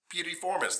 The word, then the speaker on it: piriformis: It's piriformis.